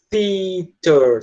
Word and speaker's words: theater: Ele tá falando theater, tá? Theater. É esse som inicial que tá distinguindo. A pronúncia é correta, totalmente correta. Isso, não seria theater. Aí, professor é teacher. Você tem uma diferença. É parecido, mas dá para ver que é diferente. Theater para teacher.